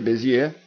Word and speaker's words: Bézier: fez aí a pergunta como é que a gente tá e pronunciando a palavra bezier Pierre eti beier Pierre bezier b beier então é assim que se pronuncia beier não Ten o que